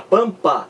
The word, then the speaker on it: pampa: é uma consoante aqui você não pronuncia o m da palavra pampa mas você pronuncia o m da palavra merda porque você pronuncia o emmy em merda num opel merda mas você não anuncia o enem na palavra pampa a palavra pampa é pronunciada assim não há o eniac